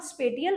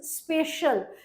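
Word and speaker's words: spatial: ये वर्ड जो है इसको कई बार लोग ना स्पेटियम पढ़ते हैं मैंने बहुत सारे लोगों को इसको स्पेटियम प्रोनाउंस करते हुए सुना है तो इट इज नॉट स्पेटियम इट इज स्पेशल because आप देखिए जो ज्योग्राफी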